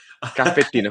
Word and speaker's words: caffettino: Un caffettino, un caffettino e si va. Allora, okay. Caffettino, cafecito es español.